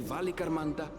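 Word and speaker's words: Valigarmanda: beasts which crawl and fly only the legendary valy Ganda could hope to disturb the summit's Serene Majesty so that's how you pronounce it yet with that flying Calamity imprisoned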